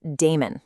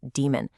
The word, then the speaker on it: daemon: You look at it and it seems like it should be pronounced daemon, right? But, the process that runs your Unix backgrounds is actually pronounced exactly like the word demon. Just say demon process and you are